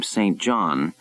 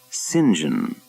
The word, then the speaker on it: St. John: He had left Bermuda pronouncing his name St. John and had returned, pronouncing it and insisting everyone else do too, singing.